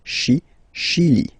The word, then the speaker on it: Chili: Okay, remember, CH, sh. Okay, Chili.